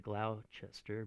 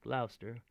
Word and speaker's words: Gloucester: for the same name i know it looks like glauchester but it's gloucester you know they tend to